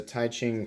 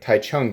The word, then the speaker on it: Taichung: of that forward choil I believe this is a touching Taiwan yeah wait Taichung Taiwan somebody corrected me on that a while back they're like you got to pronounce that correctly really cool excited to